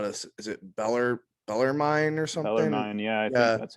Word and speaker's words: Bellarmine: i don't know how to is it bellar bellarmine or something yeah yeah that's how you say